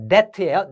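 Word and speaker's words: debt: that to that요 b는 어 발음이 나지 않아요. 묵음이에요. 그래서 that예요.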